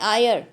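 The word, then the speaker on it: heir: remember it is sorry it's hyr but h is silent i a ir so we say will not say or will say an and ir who would inherit all his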